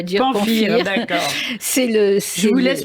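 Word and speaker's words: Pamfir: Et puis là, on va passer au Serment de Pamphire ou Pamphire, on va dire Pamphire, d'accord.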